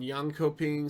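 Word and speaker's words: Jönköping: next Masters Tour which is being held in young coping Sweden is nice that's where Dreamhack originated I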